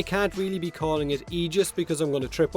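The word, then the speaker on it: Aegis: is the silver and agis Prime sorry I mean the egis Prime because apparently that's how you actually pronounce that word egis which I will definitely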